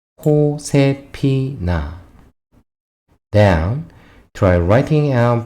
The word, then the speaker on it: Josefina: Josefina. J is pronounced here before a vowel, and the last of the spelling is smaller to the English notation. After all, you can say Josefina. Josefina.